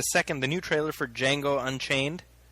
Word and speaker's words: Django: Django. D J A N G O. The D is silent.